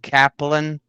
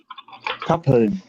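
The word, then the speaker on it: Kappeln: Um, the pronunciation of course a little bit different, but um yeah, cup like on a in a German way.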